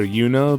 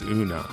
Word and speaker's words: Una: I pronounce these names some may call her yuno but I generally use the original Japanese pronunciation as a guide and in Japanese it's una as for Fort it's